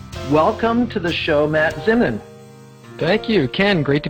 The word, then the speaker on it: Zinman: So, welcome to the show, Matt Zinman.